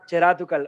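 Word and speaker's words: ചെരാതുകൾ: Is that, did I pronounce it Cherathakul, right? Cherathakul. Cherat Cherathukal.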